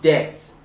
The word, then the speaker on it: debt: um debt is debt as in debt it's pronounced debt but i'm not saying death okay i'm not